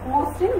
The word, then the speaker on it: মসৃণ: যেমন আমরা কি লিখলাম মসৃণ, মসৃণের উচ্চারণটা কিভাবে করলাম মুসৃণ। এখানে রিকার থাকার কারণে ময় উচ্চারণটা কি কেমন হয়ে গেল উকার যুক্ত হয়ে গেল, ময়